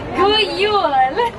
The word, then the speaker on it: God Jul: God Jul.